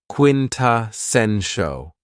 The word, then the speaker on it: quintessential: Another very cool adjective is quintessential and this word has four syllables and the stress is on the third syllable. Quintessential.